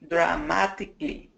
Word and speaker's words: dramatically: family dramatically dramatically no dramatically I'll take it this is a flap te try it again dramat dramatically